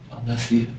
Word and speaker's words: Allesia: So, was that what starts causing problems between you and uh Alessa? I think that's when it just started getting, you know, Am I pronouncing your name right? Allesia. Allesia. Okay.